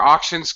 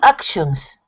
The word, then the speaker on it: auction: how is the pronunciation actions auction okay you got to be careful because of course it's the a sound it's action like action movies so more auction that's it very okay